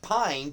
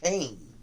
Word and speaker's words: Payne: I know you know it sounds like Pine, but what Mr. Hovis has told me, it's pronounced Payne.